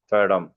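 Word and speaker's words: fathom: ஃபேடம் அப்படி உச்சரிக்க சொல்றாங்க.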